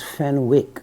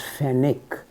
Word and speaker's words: Fenwick: the reference here Peter fenic a British I used to pronounce this as Fenwick but apparently in England they pronounce as fenic so I was periodically